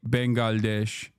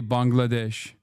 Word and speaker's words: Bangladesh: Now Turks are saying Turks used to say Bengalesh and now they say Bangladesh.